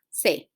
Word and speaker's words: clase: Then the next word ends in a vowel, okay? So you go ahead and put the natural stress or the stress in the next to the last syllable. So in this case will be cla. Okay, so we clase.